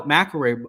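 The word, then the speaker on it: McIlroy: I got to say, crazy how macar by the way is the shorter word, yet it's three syllable syllables. And then uh freaking Sheffler is longer and it's only two English language for you, huh?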